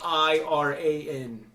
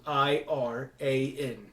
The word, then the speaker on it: Iran: It's an I. It's not an E. Iran. Iran spelled E-E-R-A-N.